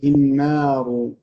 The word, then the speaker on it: النار: So if letter has nothing, this means it is dropped. You don't pronounce it. Doesn't have a fatha, a kasra, or a dhamma, and it is not a waw, an alif, or a ya, then do not pronounce it. This means this alif and lam will not be pronounced. But the timing of the alif and lam will be compensated for by doubling the noon.